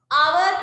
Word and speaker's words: hour: But that consonant sound is silent. A sound එක silent, right? So our කියලා අපි start කරන්නේ.